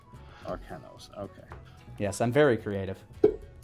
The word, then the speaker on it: Arcanos: Arcanos. Basically Arcana, but then N-O-S at the end. Arcanos.